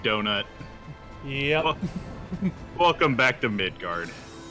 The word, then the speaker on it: Midgar: oh here we go because it's midgar not midgard right yeah no it's it's midgar no d ude I like him